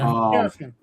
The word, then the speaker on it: Chaosium: Chaosium? I don't know how you pronounce it. The weird Cthulhu company. Yeah, Chaosium.